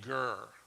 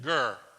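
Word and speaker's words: גר: he calls himself a girl i want you to say that gur there you go say it like you mean it gir there you go right so that's hebrew for alien someone who has no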